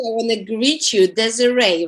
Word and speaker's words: Desiree: So I want to greet you, Desiree, right?